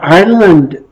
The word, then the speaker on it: Islay: highlands the Lola's the island district and our district no that looks like Islay but it's pronounced isla and it's just an